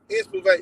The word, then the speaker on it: Inspivate: my record label Inspivate. How you say it? Inspivate. It's like Inspire Motivate.